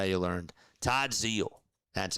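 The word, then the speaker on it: Todd Zeile: It's how you learned Todd Zal. That's how you pronounce it. Todd Zal.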